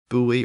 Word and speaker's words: buoy: and Dutch speakers and since this particular word buoy or boy is a maritime word it's very possible that